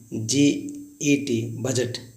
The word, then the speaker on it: budget: कभी कभी देखिए बजट लिखा होता है, BUDGET, बजट, इसे पढ़ते हैं बजट पढ़ते हैं। इसको हम लोग डी साइलेंट मानते हैं इसीलिए।